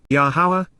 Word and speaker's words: Yahowah: Yahowah, Yahowah, the proper pronunciation of the name of Eloah, God has directed in